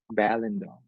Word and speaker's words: Balindong: Balindong. Balindong. Have a seat, Mr. Balindong. Take off your pants, Mr. Balindong. It's weird because it's the lin is supposed to be the pronounced syllable, like balindong, not balindong.